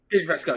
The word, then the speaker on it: Pedro Pascal: We found out that the role actually went to Pedro Pascal. Is that how you say his name? Pedro Pascal? Pedro Pascal, yep.